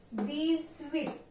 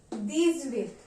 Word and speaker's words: dix-huit: Sehz, deez-set, deez-weet. Even if the spelling of weet is H-U-I-T, we will be pronouncing it as we.